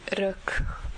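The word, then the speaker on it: Reök: Yeah, we very much enjoy the facades of many buildings, and especially the one of the Rök Palota, which is spelled R-E-O-K Palace, K Palace.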